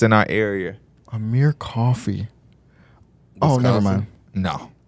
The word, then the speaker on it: Amir Coffey: I forgot how to pronounce this. It is Amir Coffey.